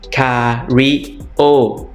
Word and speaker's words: karaoke: 1 o 2 o คาราโอเกะ คาริโอิ เน้น คำ ว่า โอ้ นะ ครับ คิโอิ คาริโอิ ร้อง